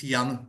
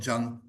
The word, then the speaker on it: Jan: Okay, the pronunciation is Jan, not Jan, but Thank you.